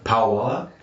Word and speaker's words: Pawala: Probably gonna horrible make pronunciation of the restaurant, but it's Pawala.